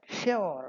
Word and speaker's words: sure: Although the second one is more modern but sure rhyming with cure is not wrong and sure rhyming with is also correct and the more one uh the more modern style accepted in modern times.